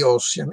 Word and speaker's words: Ossian: Ecco, io ho fatto notare che queste formule si ritrovano nell'Ossian, va pronunciato all'italiana, di Cesarotti, questo poemetto ricavato da un falso sostanzialmente scozzese di Macpherson, che ricostruisce queste mitiche vicende di Ossian.